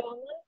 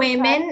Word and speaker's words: women: Ya, urge the woman. Desak seorang wanita. And the children women itu para ya. Dia banyak. Bacanya bukan woman, women. Women. Woman yang pakai an.